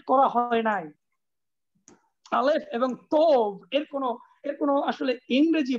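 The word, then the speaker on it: תו: তৌ হবে না, উচ্চারণটা হলো তব।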